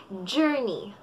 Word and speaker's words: journey: Madalas natin pagkakabigkas ay journey. Journey. Ang tamang pagkakabigkas ay journey. Journey. Hindi siya or. Or. Jor. Jor. Hindi siya jor, kundi journey.